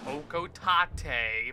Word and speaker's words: Hocotate: Also, yeah, I know it's supposed to be pronounced Hokotate, but I hate that pronunciation.